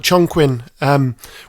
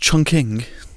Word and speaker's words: Chongqing: It just looks gorgeous, like Chongqing, with the rain and the neon signs, fabulous. Dan, isn't it pronounced Chongqing? Is it? I think so, yeah.